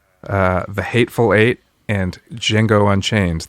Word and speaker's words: Django: the hateful eight and jingo unchained the d is silent um yeah you're welcome so what i love about the django unchained i think it's